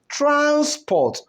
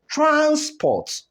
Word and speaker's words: transport: And when the stress goes to the second syllable and the word becomes a verb, the sound of such word will also change. So here we have it as what? Transport.